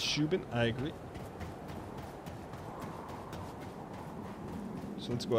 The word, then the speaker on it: Shubin: Dan, it's pronounced Shubin.